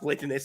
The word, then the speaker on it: Platanaso: I saw the AMA that you had with Shibnobi where Cliff was trying to make you pronounce Platanaso, then Jay pronounced Platanaso.